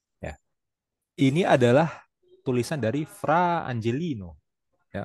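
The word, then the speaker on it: Fra Angelico: ini adalah tulisan dari fra angelino ya k orang Italia bacanya harus gitu ya frangelino ini dilukis pada abad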